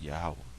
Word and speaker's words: Yahawah: up in the Hebrew it's yahawah okay that's how you pronounce it yahwah so it says because